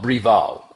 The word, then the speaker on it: Braeval: It's called Braeval, which is kind of weird. Normally AE is pronounced with an I, but it's from the Braeval Distillery, which is extremely rare.